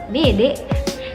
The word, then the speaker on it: bede: Bede kayak cara pembahasannya itu atau cara pengucapannya itu tempe, kayak bede begitu teman-teman ya.